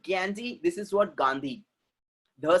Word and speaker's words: Gandhi: ध का sound English में नहीं है. There is no ध sound in English. But foreigner लोग अपने इंडिया में आते हैं और क्या बोलते हैं? मिस्टर गैंडी. गैंडी बोल रहे हैं, गाली देता है क्या?